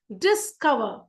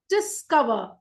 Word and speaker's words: discover: Okay, and if it's a verb, the stress will be always on the second syllable. Decide, complete, discover, discover.